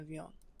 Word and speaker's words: viande: Il mange de la viande. Okay, and it also sounds like you're making the last syllable on viande silent, or the last consonant, sorry.